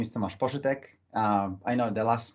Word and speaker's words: Poszytek: last one more time my name is toas posch um I know the last name is really difficult to pronounce it's really polish there is a lot